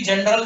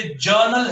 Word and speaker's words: journal: ये, इट इज नॉट, ये नहीं है ये, प्लीज इसको कोई भी जनरल नहीं बोलेगा। जनरल का मतलब होता है सामान्य, साधारण, ठीक है ना। ये जर्नल है, मैंने ऊपर सबसे ऊपर स्पेलिंग लिखी हुई है, ध्यान से देख लीजिए, इट्स अ JOURNAL, जर्नल, और इसकी कोई हिंदी नहीं है, इसको अंग्रेजी में ही पढ़ना है और कोई तरीका नहीं।